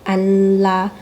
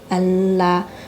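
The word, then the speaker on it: 安拉: 经常用的经堂语叫安拉，安拉。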